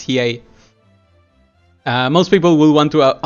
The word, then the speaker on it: Hiei: And the thing is, most people will want Hiei, most people will want Yusuke, and now the other... I really dislike this pronunciation. It's Hiei.